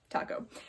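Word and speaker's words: Taako: taco which is awesome it's spelled ta AKO but still taco so it's great i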